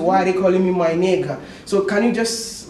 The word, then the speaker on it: 买那个: My naga.